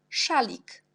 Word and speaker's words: szalik: Puis, on a aussi SZ, on prononce toujours ch. Par exemple, quand le mot français chat, un chat, on prononce ch comme szalik, jak szalik.